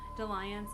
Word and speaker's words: dalliance: Dalliance is doll, like gall.